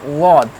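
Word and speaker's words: ض: So then this will be pronounced like wad, wad. It has special sound, wad, wad, wad.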